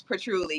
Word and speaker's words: patchouli: Yes, yes, patchouli, yes.